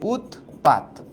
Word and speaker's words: উৎপাত: যেমন আমি যদি উচ্চারণ করি ধর উৎপাত। এই যে উতপাত ঠিক আছে এটার এটা তো লিখিত রূপ বানান লিখছি কিন্তু এটার উচ্চারিত রূপ কি রকম হবে বলতো এই যে খন্ডত কিন্তু উঠে যাবে উৎপাত উৎপাত এরকম হবে